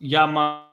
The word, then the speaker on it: Jamin: Jamin is pronounced Yamayan, which means right hand.